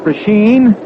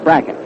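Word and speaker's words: Brecheen: w c h n a lot of folks call it pren but uh he says that he and his family call it bracket that's good enough for us I think the First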